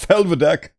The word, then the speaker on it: Felvidek: They said it's the title drop name drop helvadec I guess I have been pronouncing it right this whole time because they put emp emphasis on the e well they become wait